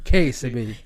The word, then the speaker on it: Kessiby: une amie, quelqu'un de très spécial, mademoiselle Myriam KCB. Faut faire attention à son nom de famille, les gars. Elle a pas un nom comme les autres. C'est pas KCB, c'est pas Teddy, c'est pas Tigledy, c'est KCB.